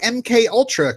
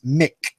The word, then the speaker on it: MK Ultra: knew how to say MK ULTRA correctly M and K are pronounced as individual letters not as Mick correct oh my gosh